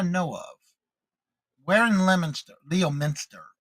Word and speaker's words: Leominster: Leominster is how I guess they pronounce it here.